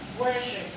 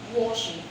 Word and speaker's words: worship: Worship. Now, it is not pronounced worship, but worship.